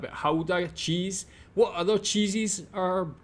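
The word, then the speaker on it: Gouda: with regards to Howa I have always pronounce it GAA sorry about that but Howa cheese what other cheeses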